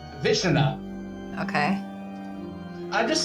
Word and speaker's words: Vishnu: It's the pronunciation is exactly what you... What it looks like? Vishnu.